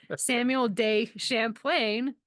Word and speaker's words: Samuel de Champlain: on this podcast I thought you would just pronounce his name for me Samuel day Champlain French cartographer how's that he is the like's